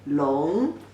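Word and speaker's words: 聋: The whole character now pronunciation is also long. Same pronunciation, dragon.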